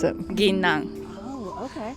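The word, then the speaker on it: ぎんなん: How do you pronounce it? Ginnan.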